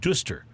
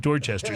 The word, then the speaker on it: Dorchester: And then there's a town inside like the greater Boston area called Dorchester, but you do not pronounce it Duster. You pronounce it Dorchester.